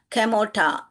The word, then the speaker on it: Kamorta: इसको कैसे पढ़ने का? कैमोटा। ओ आर जो है वहां पर नहीं पढ़ना है हमको, कैमोटा।